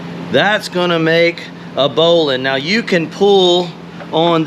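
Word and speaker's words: bowline: and it's a knot it's called a bowling knot it looks like bow line the way they spell it and if there's one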